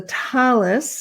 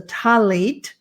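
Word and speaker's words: tallit: and the prayer shawl, known as a talis, a talit in Sephardic pronunciation, was wrapped around the couple, and a blessing was said.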